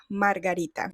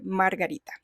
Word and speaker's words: margarita: And I almost forgot, but daisy in Spanish is pronounced margarita. Yeah, it's kind of like the drink margarita, but you say margarita.